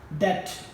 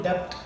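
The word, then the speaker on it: debt: हमारे पास वर्ड है डेट हम इसको डेप्थ नहीं पढ़ सकते इसको डेट पढ़ेंगे लेकिन ऑन द अदर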